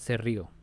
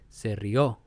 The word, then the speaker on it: rió: Se rió is the past tense of reír, and you have to accentuate the last syllable. It's not se rió, it's se rió.